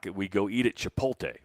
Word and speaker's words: Chipotle: we we go to chip to what Chipotle how do you say it well you're switching some letters around on me there I am it's chipot Le Chipotle what did I say Chipotle